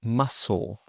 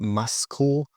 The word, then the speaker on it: muscle: Now, for the silent C, this often happens before the letter K or in some SC words. For example, muscle. Muscle. Okay, not muscle, but muscle. Scene.